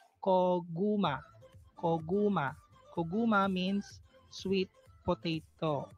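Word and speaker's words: 고구마: First syllable is ko, second syllable is gu, third syllable is ma. Koguma.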